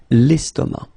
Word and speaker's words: estomac: L'estomac, okay, same thing here, final C not pronounced, and then M means that this word, estomac, is masculine, okay? L'estomac.